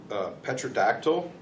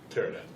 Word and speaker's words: pterodactyl: Petrodactyl, the giant big bird ones. Pterodactyl. Well, whatever. It has a P in it. The P is silent.